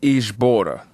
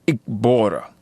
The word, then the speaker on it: Ikbora: corrected me and said the proper pronunciations for those words are Akbara and Ikbora. A very abrupt glottal stop with the ak.